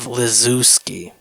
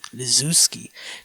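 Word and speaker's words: Lizewski: Dave Lzooski, that's how you That's how you say it. Uh, L I Z E W S key S K Y L Le Luski. Lzooski.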